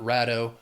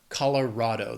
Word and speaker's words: Colorado: This state has 4 syllables. The stress is on that third syllable. Even though it's R-A-D, it's Colorado, not Rado. Colorado, the Rocky Mountains, beautiful state.